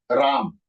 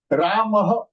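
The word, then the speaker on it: रामः: Let us take Ramah is Sanskrit. Ram is either Hindi or Marathi, but it is not definitely Sanskritam. In Sanskritam, it is Ramah. Visargaha yojaniyam. You have to apply Visarga.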